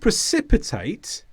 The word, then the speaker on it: precipitate: skill but also informally really good the word precipitate has got two meetings it's a verb and